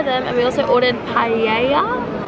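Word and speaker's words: paella: and we also ordered paa p pa P it's no you don't pronounce l i don't know how you say it but I know you don't say the L and he was to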